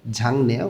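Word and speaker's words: 작네: একটু ঝাংনে ছোট গিয়োগ ভাচ্চিমের পরে যখন নিউন আসে তখন এই গ টা অনস্বর উচ্চারণ করতে হয় এটা ভাচ্চিমের নিয়ম উচ্চারণটা হবে ঝাংনে অর্থ ছোট ঝাঁকতা ছিল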